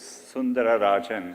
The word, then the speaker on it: Sundararajan: It actually was Sundararajan. No one could pronounce it, yeah.